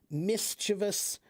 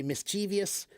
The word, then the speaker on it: mischievous: Or charcuterie, that's a French word that is often mispronounced because it's French. Mischievous is sometimes people will say mischievous.